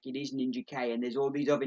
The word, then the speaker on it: Ninjak: It's Ninja K. Usually he's pronounced Ninjak, but this series they've got like the comma, so it's Ninja K.